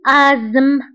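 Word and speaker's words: asthme: فبالنسبة لازم تبهوا لهذه الكلمة فتكتب ب a s t h m e وتقرأ ب ازم. ازم. هذه ال t h لا ننطقها فنقرأ ازم مع أنها تكتب ولكن لا تقرأ.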